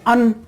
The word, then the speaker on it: an: जब weak form में articles का हम प्रोनाउंसिएशन करते हैं तो ए को बोलते हैं अ, ए एन को बोलते हैं अन, और टी को बोलते हैं द या दे।